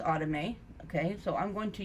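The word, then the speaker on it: athame: my autumn a okay some look at the spelling a th AME and they say a same it is pronounced out of me okay so I'm going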